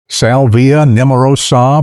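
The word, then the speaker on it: Salvia nemorosa: Specifically the salvia neurosa pronounced salvia neurosa varieties like mayite keradana and blue hill.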